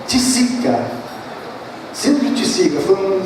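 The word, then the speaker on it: Tietze: E há pouco tempo eu verifiquei que não era um francês, nada, é um alemão, e a pronúncia não tem nada a ver com Price, a pronúncia é Tisica.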